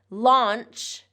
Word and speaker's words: launch: Launch, like when I launch a rocket, launch has that ch sound, voiceless ch. Lounge, lounge has more of the voiced j sound. So the difference here is in the vowel and in the voiced and voiceless sound at the end.